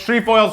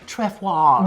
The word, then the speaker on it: Trefoil: is it even pronounced tree foil yes because like it seems like a French word it's it's tree foils here we're in America